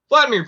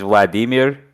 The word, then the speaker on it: Vladimir: his ear or something vladimir putin's been to get political political but technically it's vladimir not vladimir yeah the emphasis is on the second syllable i don't know why